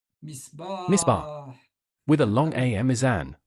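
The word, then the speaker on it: ميزان: Here we lengthen the U, misbah, with a long A mizan, with two long vowels, Mizan, avec mind the deux long voyelles I de and the prononciation, le i long et le a long.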